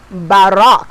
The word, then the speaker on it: Baroque: now you know your music teacher I'm fancy so I say baroque and some people do say baroque but it's actually pronounced by rock like ma Rock right Barack so the Baroque